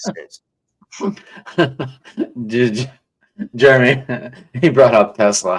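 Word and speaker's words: TeSlaa: Tesla Tesla and think, "Oh, who is this guy?"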